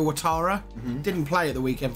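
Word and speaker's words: Ouattara: out who it is it or Tara is that how you pronounce his name yeah Dango watara didn't play at the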